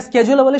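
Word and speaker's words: schedule: স্কেডিউল, এটাকে স্কেডিউল বলে, শিডিউল বলে, ব্রিটিশ আর আমেরিকান দুই জায়গাতে দুই উচ্চারণ ভ্যালিড, আপনি যেটা বলেন সমস্যা নেই।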